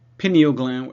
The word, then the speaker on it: pineal: all right so the Pineo gland I tend to say Pineo gland uh you'll hear it pronounced pineal gland uh and I'll say pineal because I heard that more lately uh so in terms